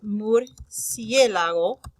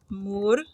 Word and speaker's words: murciélago: So, for instance, like the word murciélago, it's the word bat, murciélago. I think that's right. Murciélago. Yeah. So, the última sílaba is this one. The penúltima sílaba is that one. This would be the antepenúltima sílaba.